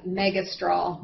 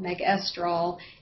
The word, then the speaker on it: megestrol: me megas or me megestrol megestrol depending on how you want to where you want to put the emphasis on the syllable um it is also